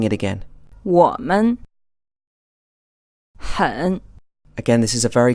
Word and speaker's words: 我们: You will hear from time to time that some people pronounce this as a 3rd tone, then a 2nd tone. However, strictly speaking, if you look this word up, it should be a 3rd tone, and the 2nd tone is neutral or unstressed.